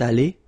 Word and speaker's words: allée: You don't pronounce it, so you get elle est allée, and then for the masculine form, il est allé. So allé is pronounced the same way.